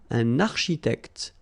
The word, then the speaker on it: architecte: Same thing here, liaison, okay? Un architecte, all right? And then CH, architecte, all right?